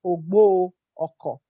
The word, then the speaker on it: Ogboro-Okor: Actually, that arrow for that name is silent. It's Ogboro-Okor.